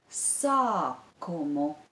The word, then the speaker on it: sākumu: And the syllable that stands before the syllable ku is sa, with the long vowel a.